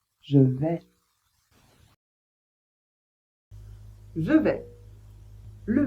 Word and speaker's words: vais: Toujours est-il que on ne prononce pas le S à la fin. Donc je vais répéter.